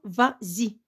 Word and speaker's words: vas-y: dire vas y vas-y et si j'ajoute e s homos c'est pour là pour bien prononcé l'expression va zy va zy l'accord du